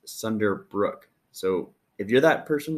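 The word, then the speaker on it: Sunderbruch: really don't know so i was told it's pronounced sunder brook so if you're that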